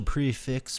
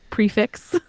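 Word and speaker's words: prix fixe: of nice the special prefix menu you know that's just it's um pronounced prefi because it's French but prefi sounds so stupid like we we or something so you don't you say prefix little puffball dog I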